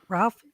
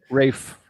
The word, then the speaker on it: Ralph: see it I love is it Ralph Venus I'm not going to say his name Ray fines yeah right Rafe yeah Rafe I love him he's